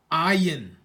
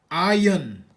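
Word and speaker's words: Ayin: we say Samak Samak Samak the next letter ayan they say ayan we say iron iron similar iron iron iron so it's pretty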